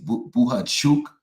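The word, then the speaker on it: Bohachuk: say bhuk because I keep trying to say buha chuk because that's the way they pronounce it when they interview him and when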